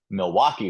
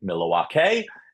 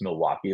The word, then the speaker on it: Milwaukee: I got to it and I was like Milwake and I just kept going. I even I mispronounced um Zurich.